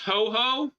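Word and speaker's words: Huohuo: Literally, it's pronounced ho-ho.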